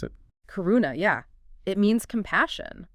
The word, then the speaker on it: karuna: the second emotion karuna is that how you pronounce it karuna yeah it means compassion it's about recognizing that